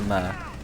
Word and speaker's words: Mer: Fergal said it's pronounced Mer. He said letter by letter. Anyway, Mer finds a kill onto Red.